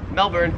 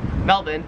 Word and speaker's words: Melbourne: it wouldn't matter because the australian accent just leaves the r off if it's ever in the last syllable of a word so you would pronounce melbourne melbourne and you would pronounce karen's cans let me know in